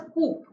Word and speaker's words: coop: is pronounced as scoop the focus is there on the p we pronounce the p and this means a